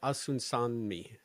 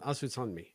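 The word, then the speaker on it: Osunsanmi: And Olatunde Asunsanmi. Yeah, I like that. Asunsanmi.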